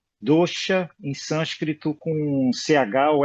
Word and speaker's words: dosha: gente tem que ver como pronuncia dosa em sânscrito. tá dizendo que é falha, vício, defeito, né? Falha, o vício. É. E pronuncia dosha, né? Da última aqui que eu olhei, ele está falando que dosha é chiado, né? Dosha. Ah, ok. Eu acho que é dosha.